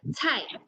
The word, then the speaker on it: 菜: We read as cai. Cai.